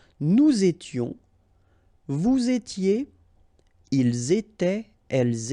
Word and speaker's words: étaient: étions, vous étiez, ils étaient, elles étaient. Alright, so exactly the same rule. Remember, final S, here, here, final T, and then here, E-N-T. You don't pronounce them.